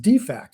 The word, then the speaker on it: DFAC: is dining facility, and it should be pronounced defect.